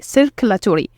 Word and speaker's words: circulatory: We can divide this word into 5 syllables as we see here. It's sir, ku, la, to, re, circulatory.